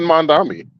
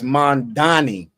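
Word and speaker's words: Mamdani: He almost said it right, folks. I said Mandami. That's Mandani, man.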